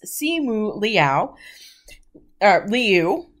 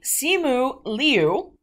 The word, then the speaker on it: Simu Liu: his name which is c mu liao liu sorry excuse me simu liu and of course the